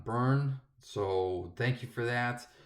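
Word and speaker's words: Byrne: talked about artist John I think I pronounce it Brian I was corrected it's John burn so thank you for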